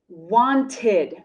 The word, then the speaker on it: wanted: look at some examples wanted wanted you see the base verb is want want ends with a t want ends with a t so the e d ending is pronounced id wanted wanted another common